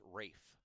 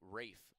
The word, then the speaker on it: Rafe: correction on a name for the Dragons It's Rafe so Rafe McConnell thank you Jeremy for the uh pronunciation check there interactive broadcast always fun love